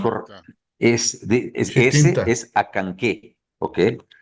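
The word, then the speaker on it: Acanceh: ese Chitinta, es Acanqué, ¿ok? Se pronuncia Acanqué. La Acanque. CE suena como K, Acanqué. Por ejemplo, arriba tienes a Chicxulub, ¿ok?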